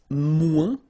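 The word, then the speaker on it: moins: want to say less it's mu in French so no discussion about the S here don't pronounce it okay and then you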